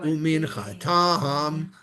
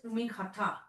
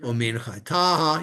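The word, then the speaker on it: וּמִנְחָתָהּ: Va'olat hatamid umin chatam. Yeah. But this is Umin Khata. That's it. Umin chataha.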